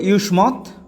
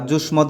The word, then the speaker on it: যুস্মদ্: এর মাধ্যমে সর্বনাম শব্দরূপ এটি হলো ইউসমত বা জুসমত বাংলায় উচ্চারণ জুসমত আর যদি সংস্কৃত উচ্চারণ করি ইউসমত যার অর্থ তুমি বিভক্তি